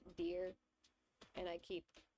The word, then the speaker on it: Dire: his name correctly because it's supposed to be pronounced deer and I keep pronouncing it as dire like that that's what it looks like but no it's pronounced deer crow but yeah he he plotting he's plotting something.